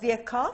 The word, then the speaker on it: Virchow: Rudolph Virchow, that's how you pronounce his name.